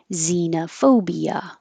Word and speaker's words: xenophobia: with a voiceless th when Z is at the beginning of words and Americans are going to pronounce it as Z xylophone xylophone and xenophobia xenophobia when um the x